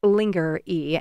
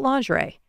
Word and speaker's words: lingerie: Ryan stifled a laugh she pronounced it linger e and he didn't want to correct her he also didn't want to talk to her about lingerie y we'll add it to